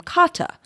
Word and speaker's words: Carter: he is British and once included a phonetic rendering of how he himself pronounces his name, Sharon has taken to calling him Kata. This confuses me every time I hear it. Sharon's speech is ordinarily rhotic, so hearing her use this pronunciation makes me think that the name must be spelled Kata or Cotta.